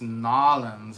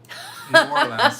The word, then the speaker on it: New Orleans: I'm laughing because LM is saying it's Nolans and not New Orleans, which is true.